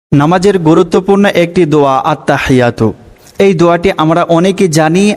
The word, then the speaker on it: আত্তাহিয়াতু: প্রত্যেক শব্দ ভেঙে ভেঙে বলব যাতে করে সঠিক উচ্চারণ হয়। তো চলুন আমার সাথে পড়ুন আত্তাহিয়াতু পড়ুন আত্তাহিয়াতু লিল্লাহি আত্তাহিয়াতু লিল্লাহি।